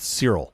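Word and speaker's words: Searle: was postulated by John I think his the last name is pronounced cirel this was in the mid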